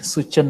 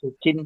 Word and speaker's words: Suchin: Okay, Suchan also permission. He also, what is Suchan? What Suchan? Suchin, sir, not Suchan, sir.